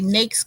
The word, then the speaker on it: NAICS: I'd say NAICS codes. It rhymes with snake.